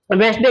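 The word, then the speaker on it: Wednesday: आज आपको पता लग गया होगा कि वेनेसडे का सही उच्चारण क्या होता है। कभी भी इसका उच्चारण वेडनेस से नहीं होता है। क्योंकि डी क्या रहता है? साइलेंट रहता है।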